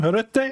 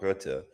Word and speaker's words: Rutte: Ed, how do you pronounce his name? Rutte?